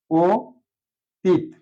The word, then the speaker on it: অতীত: দেখতে পারি অতীত অতীত কিন্তু অতীত শব্দটার উচ্চারণ হবে যেহেতু এখানে অ আছে পরে বর্ণ ত এর সাথে দীর্ঘ ইকার আছে এজন্য অটা ও হয়ে যাবে ও তিত আমরা জানি দীর্ঘ ইকার